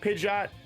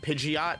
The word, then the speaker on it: Pidgeot: because I feel like I said Pidgeot my whole life, and then I found out it was Pidgeot.